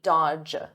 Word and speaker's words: dodge: Notice here, the D is silent, the middle D, dodge, dodge.